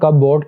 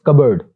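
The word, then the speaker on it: cupboard: Next word जो है इसको नॉर्मली लोग बोलते हैं कपबोर्ड, इट्स नॉट कपबोर्ड, इट्स कबर्ड, P silent, कबर्ड, कबर्ड।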